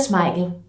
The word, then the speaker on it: Schmeichel: Peter Schmeichel. Lolos Piala Dunia. Peter Schmeichel. Schmeichel. Peter Peter Schmeichel. Oh, gue overthinking nih kayak salah. Itu rawan. Ini dia jawabannya. Peter Schmeichel.